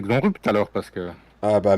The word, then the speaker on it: Xonrupt: Heureusement que tu lui demande pas de prononcer Xonrupt alors, parce que.